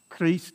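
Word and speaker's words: Christe: and not the e criste all right chris zone uh so the ch is just a c so there's you don't pronounce the h cristaele zone all right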